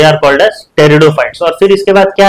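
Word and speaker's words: Pteridophytes: और तीसरा क्या है टेरिडोफाइट्स पीस साइलेंट है क्या टेरिडोफाइट्स टेरिडोफाइट्स मतलब क्या है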